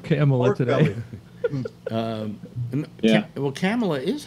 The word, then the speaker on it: Kamala: biden accidentally colored camel today um yeah well camella is how it's pronounced actually let me get back to the